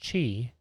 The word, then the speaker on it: Qi: for wireless charging with Qi pronounced Chi being the most widely